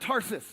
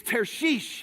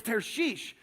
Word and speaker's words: Tarshish: It's not Tarsus, by the way. Like you've heard that. It's Tarshish is actually how you pronounce this. So he headed towards Tarshish, which is like completely in the opposite direction.